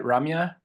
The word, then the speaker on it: Ramya: Ramya?